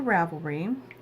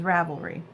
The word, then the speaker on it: Ravelry: it up right now let's go back to Ravel green it's my home page I'm a tablet is Ravelry why did I say it like that why